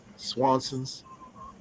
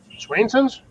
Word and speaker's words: Swainson's: Swanson's hawk. Swanson's. Swanson's. Gary. It's spelled SWAINING. Swainson's? Give me a second. I'm gonna make sure I got it pronounced right. SWAINSON with apostrophe like ownership.